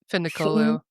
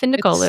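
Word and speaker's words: Dilara Fındıkoğlu: Findicolo. Dilara It's Findicolu. simpler than you think it I looks, yeah.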